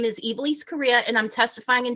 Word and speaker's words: Ivelisse: Ivelisse, if I'm not saying your name correctly, no, please.